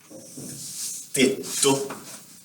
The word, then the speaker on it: tetto: Or tetto. Tetto. It's roof. Tetto. So you see there's a double combination. It's like tetto. Try to pronounce it.